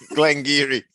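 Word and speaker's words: Glen Garioch: Glengeary. 1,140 feet on the website from the bus stop to Glengeary, or Glengarioch, as it's read, but pronounced.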